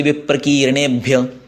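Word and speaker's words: विप्रकीर्णेभ्यः: तेभ्यो ते विप्रकीर्णेभ्य, अभी वी ह्रस्व है और की दीर्घ है।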